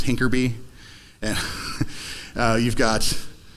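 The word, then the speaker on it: HINCRBY: You got like set add and like the H increment by for a hash increment by is hinkerby.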